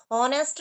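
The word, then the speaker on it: honest: अब यहां पर भी एच क्या है? साइलेंट। ऑनेस्ट नहीं हम बोलते हैं। इसको बोलते हैं ऑनेस्ट। एच यहां साइलेंट रहता है।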